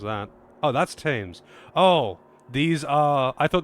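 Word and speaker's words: Thames: this is the great US river how you pronounced that Oh that's tames oh these are I thought this was the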